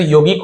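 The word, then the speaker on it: yogic: है ना वैसे तो यौगिक होना चाहिए योग वाला है बट जी के साथ आई हो वाई हो या इ हो तो योजिक बन जाता है बट हिंदी में योग का योग ऐसे पढ़ा जाता है योगिक इंसाइट जिसे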